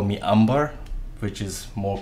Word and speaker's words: Amber: Amber actually is pronounced as Umber, and it actually means